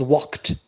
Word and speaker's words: walked: L is silent and the past becomes walked. Notice here D it is pronounced T. It is spelled D but pronounced T.